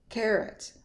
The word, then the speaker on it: carrot: Carrot, carrot. Upside down E again. It's not carrots, it's carrots.